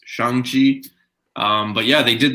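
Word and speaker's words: Shang-Chi: they actually announced that it is pronounced yeah they they said that it was shang chi so i'm gonna stop saying shang chi it's shang chi um but yeah they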